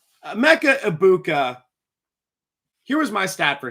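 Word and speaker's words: Egbuka: I was once told on TikTok that you don't pronounce the G in Ibuka. Emeka Ibuka.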